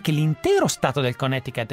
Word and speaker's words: Connecticut: Quindi Connecticut, per chi lo pronuncia un po' male.